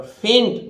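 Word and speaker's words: fought: है इसका मतलब एच उच्चारित तो होगा पर फेंट बहुत कम में होगा जैसे फट एओ यजी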